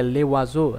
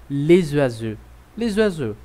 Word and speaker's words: les oiseaux: Então, essa palavra aí que você está vendo, talvez você está pensando, não é para pronunciar o S, então eu diria le oiseau. Não. Como a outra palavra começa com vogal, então eu vou fazer um som de Z, certo? Eu vou dizer les oiseaux, ok?